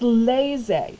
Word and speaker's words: laissez: good times roll so the first word is laissez like laissez-faire laissez the second word is